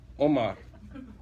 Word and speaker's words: Omar: that name raise your hand what's your name Omar Omar that's our identity crisis cuz that's that's not how it's pronounced huh it's Omar okay cool so do